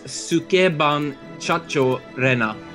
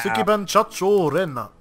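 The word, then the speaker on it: Sukeban Shachou Rena: Yes, Sukeban Chacho Rena. I'll spell it out as well. S-U-K-E-B-A-N S-H-A-C-H-O-U-R-E-N-A. Wow. Sukeban Chacho Rena.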